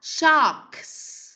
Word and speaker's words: socks: Bạn Minh Châu đọc là socks. Tức là sao? Chúng ta không đọc là socks, mà chúng ta phải vừa phát âm được âm K và vừa phát âm được âm S này ha.